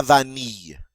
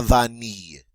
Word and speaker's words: vanille: Next, la vanille. La vanille. The double L is pronounced like a Y.